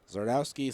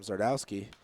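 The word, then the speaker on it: Zgardowski: o wsk k i I had to ask him how to pronounce it I figured either the Z or the G were silent but I wasn't sure which one o and two the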